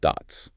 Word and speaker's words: DOTS: First, we'll analyze a really revolutionary physical storage technology called dots. And it's pronounced just like the word dots.